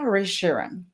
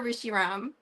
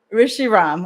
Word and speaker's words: Rishi Ram: I butchered it right tell me the correct way to say it so next time I have no excuses it's Rebecca or Rishi Ram Rishi Ram okay perfect thank you